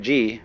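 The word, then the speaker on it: 事: The word Ji, which is Japanese way of pronouncing the Chinese Chur, is the world of things and events.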